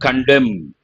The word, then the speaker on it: condemn: What is the meaning of the word condemn? N is silent, but when you say condemnatory, you have to pronounce that.